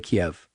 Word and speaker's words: Kyiv: from just outside of Kiev, or Kyiv. Wow. Now pronounced Kyiv. Kyiv, they call it.